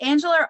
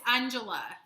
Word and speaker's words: Anjala: Is it Angela or Anjala? I want to be corrected. Oh, it's Anjala.